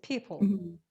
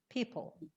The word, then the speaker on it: people: never l okay it's people people people people okay yes don't try to say don't try to say oh just try to pronounce without any vowels but then the o